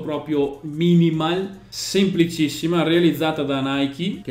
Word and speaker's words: Nike: Lo dico come lo pronunciano in America, dove c'è la Nike, dove esiste l'azienda e loro la chiamano così.